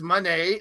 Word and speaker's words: Monee: the Mercedes Monee one she says Monee like money not Monae she's not a